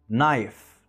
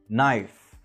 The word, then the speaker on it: knife: في الحالة دي حرف الk بيكون silent، يعني ملهوش صوت. فالصح ان احنا كنا نقول no knife knock، وهيبقى النطق الصح للجمل